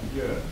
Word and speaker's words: Björn: Bjorn. Yeah, I'm just gonna. Are you in tennis, by the way? Yeah, I am. And in Sweden, they pronounce it Björn. And in Germany, also Björn. It means bear.